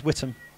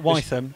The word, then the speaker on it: Whittam: And is it Whittam or Whittam? I've understood. I've spoken to the boss. It's Whittam. Okay. It's not Wytham.